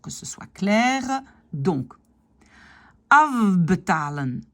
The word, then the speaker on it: afbetalen: Donc, afbetalen, c'est le F qui devient V. Afbetalen.